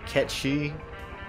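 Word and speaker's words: Cait Sith: you want to pronounce it officially technically it's pronounced catchy but a lot of people I know always pronounced as Kate's if potato potato I mean I've got it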